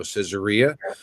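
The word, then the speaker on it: Caesarea: U Mount Carmel and casaria on the coast pronounced also cesaria uh sorry about the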